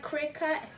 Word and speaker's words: Cricut: Cricut?